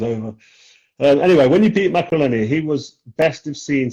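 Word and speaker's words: Maccarinelli: When you beat Macreleni, that's how you pronounce it.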